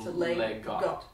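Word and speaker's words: leg godt: It's either, so Lego is a shortened version of the words Lego. L-E-G space G-O-D-T. So Legot. I always thought it was like goat.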